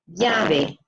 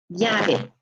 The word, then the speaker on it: llave: Or in some areas where they pronounce that double L more like a hard J sound rather than like a Y sound, they're going to say AJ, okay? AJ for the double L. So we can pronounce it in a word like llave, llave, or llave. Again, it just depends on where you are exactly what the accent will sound like.